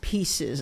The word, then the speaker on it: PIIE: Do you Because I saw pie. I'm like, you had me at pie. It's pieces actually.